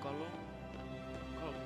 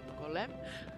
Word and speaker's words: Golem: is here with her companion who is a golum golum Golem yeah Golem and um as I leave this